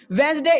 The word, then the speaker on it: Wednesday: the logic speed speak wednesday logically wednesday is right logically logically but sometimes we should not see the logic wednesday is the right pronunciation and this in this pronunciation the logic doesn't work so somewhere the logic